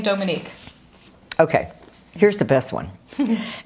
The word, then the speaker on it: Dominique: And then they couldn't even pronounce Dominique. They would say Dominique, yeah.